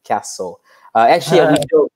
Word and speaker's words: castle: It is impossible not to pronounce a T in the castle. We don't pronounce it.